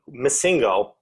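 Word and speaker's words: MissingNo.: Missingo, or at least that's how I grew up pronouncing it, but missing number is how it's spelled.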